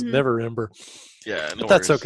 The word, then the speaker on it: Neverember: You know, it dawned on me that I've been mispronouncing Rainier's last name wrong. But actually, I'm just going to keep with it in character. I've been calling him November, and I know it's not November. It's Neverember.